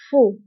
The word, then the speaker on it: faux: وانتبهوا بالنسبة لفو كنكتبوها بإكس آخر الكلمة لكنها لا تنطق faux.